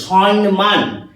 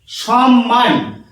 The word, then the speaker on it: সম্মান: এইভাবে হচ্ছে দন্তন্য দন্ত নয় ময়ে আঁকা দন্তন্য সনমান টিভিতে প্রায়ই দেখা যাচ্ছে উচ্চারণটা শোনা যাচ্ছে সনমান জানিনা এই উচ্চারণটার বা বানানটার কোন সংস্কার এসেছে